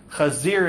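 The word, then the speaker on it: חזיר: almost the same word Kazar and kazir um AR means to turn in Hebrew kazir is how you say pig but not only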